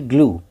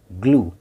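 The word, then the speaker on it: glue: जी एल यू ई, ग्लू, ग्लू।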